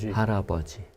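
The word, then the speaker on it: 할아버지: or syllable by syllable it looks like Hal a but when we say it it sounds more like an R soundi haraji okay and I've got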